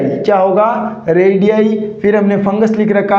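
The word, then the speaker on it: radii: कैसे होगा pronunciation, रेडियाई। क्या होगा, रेडियाई।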